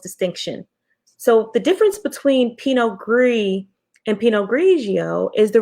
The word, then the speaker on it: Pinot Gris: s but the clearly the s is silent so it's pinot gris versus pinot noir i'm